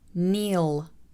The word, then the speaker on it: kneel: Kneel, kneel.